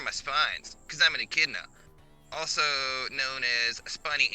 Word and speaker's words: echidna: try it this way the e is pronounced like an i in the name ricky the middle part is pronounced like the word kid the last part is